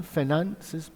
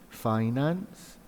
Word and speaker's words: finance: with figures finance b finance is an american finances british pronunciation finance finance both are correct dealing with employees and